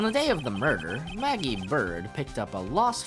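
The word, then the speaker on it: Maggey: can call me maggie it's maggie but it's pronounced maggie but it's spelled magee that was when you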